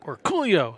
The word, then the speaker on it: Orcollo: we asked him and he says cool yo he said it just like that so we always say